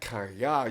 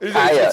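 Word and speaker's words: Kaaya: Brad Kaya used to throw the ball to him.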